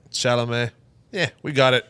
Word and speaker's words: Chalamet: It has Joel Egerton, Robert Pattinson, Timothy Chalamet. Did I say his name right? Chalamet. Chalamet.